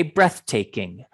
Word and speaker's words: breathtaking: much cheaper okay a breathtaking view is an amazing view okay breathtaking try to say that make sure you get the th at the end of breath i'll say it again